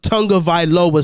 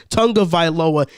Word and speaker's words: Tagovailoa: not winning with tua tonga villa since i'm always getting his name wrong it's tonga tonga viloa and now i'm pretty